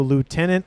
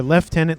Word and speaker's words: Lieutenant: have an royal blue Lieutenant Lich or left tenant Lich depending on where you are in the world I don't really know what that has to do with terms of like how you pronounce it I don't know if it's like a translation thing no idea I just know I've heard leftenant and Lieutenant I'm from the US so I say Lieutenant but I have said